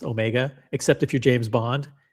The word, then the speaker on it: Omega: All the breaking news on Omega, which by the way, that's how it's pronounced, Omega. Except if you're James Bond and he pronounces it Omega.